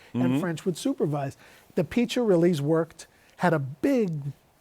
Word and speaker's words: Piccirilli: Piccirilli? They called him Uncle Peach, was the oldest. Yeah. That's how I learned the pronunciation.